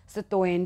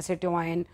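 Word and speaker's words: citoyen: Hand वो क्या कहलाएंगे सिटइन सितोइन जिसे हम बोल सकते हैं सिटइन और सिटोइन ठीक है इस तरीके से उनको बोला बोला जाएगा स्पेलिंग याद करके जाना।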